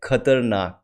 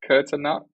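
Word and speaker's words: खतरनाक: Kurt, Kurt, Khat, Kurtanak, khatar, khatarnak. Kurtanak. Yeah. I feel like I'm So it's butchering the like word. Kurtanak. KH. It starts with the Kurt, KH. So KHATAR.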